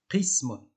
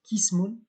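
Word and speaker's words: قسم: On dit en arabe qismun. Alors faites attention, je dis bien qismun, je ne dis pas kismun, je dis qismun. Donc il y a une petite subtilité en termes de prononciation.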